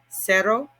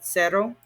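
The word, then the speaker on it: cero: guy so this first guy is cerro repeat not a z like zero but a s sound sero and of course that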